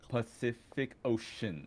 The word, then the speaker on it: Pacific Ocean: For instance, Pacific Ocean has three C's, all of which are pronounced different. Pacific Ocean.